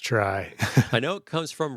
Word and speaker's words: trie: anyway uh it's pronounced try and I I find that disappointing I've heard people pronounce it both ways but it's very confusing when people pronounce it tree so yeah I think